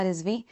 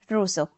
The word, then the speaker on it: Rousseau: This is Nisha Rizvi.